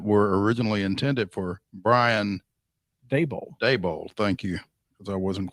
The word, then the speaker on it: Daboll: Brian Flores that were originally intended for Brian Daboll. Thank you. Because I wasn't quite sure how you pronounce that.